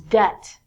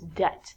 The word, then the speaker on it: debt: We have to say the B-I-T when we say debit, but this word is debt. And if you use your debit card too much, you become in debt. In debt means you do not have money and you owe or have to give people money. So it's not debit, like debit card, it's debt.